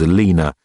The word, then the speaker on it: Alina: The old bat's name was Alina, pronounced to rhyme with cleaner, which was an irony that Durk now no longer relished, into opening the fridge door.